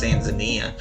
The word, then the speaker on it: Tanzania: Okay, that country is Tanzania. I know a lot of people pronounce it Tanzan Tanzania, but that's technically not correct. It's Tanzania.